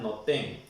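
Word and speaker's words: נותן: que significa noten, pongo, en hebreo se pronuncia noten.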